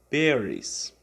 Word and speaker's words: berries: Aqui, Pronunciation Practice, nós temos o som da letra E. Esse som da letra E em inglês, algumas vezes ele vai vir com esse som E, mais uma vez, E, ou ele vai vir com o som de I, ok? No áudio, vocês vão prestar bastante atenção na pronúncia dessa palavra, berries, berries. Olha aqui, esse E que está marcado aqui, É justamente esse som que ele quer que vocês prestem atenção. Berries.